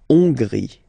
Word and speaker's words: Hongrie: So remember, H doesn't exist, so you don't pronounce it. So it starts with O-N, on, and then gris. Final E, not pronounced. La Hongrie.